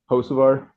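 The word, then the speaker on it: Hocevar: Hosavvar.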